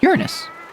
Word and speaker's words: Uranus: See, like that Greek u is pronounced like Latin U. Latin u being pronounced u not you.